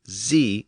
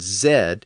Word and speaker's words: Z: I've mentioned this before, but as many of you know, the letter is pronounced Z in the United States and Z in much of the rest of the English-speaking world.